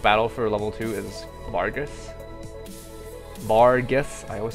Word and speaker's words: Vargas: for level two is Vargas Vargus I always say I always pronounce it wrong I always think the r is after the G so I was like VAR grass there's two RS whatever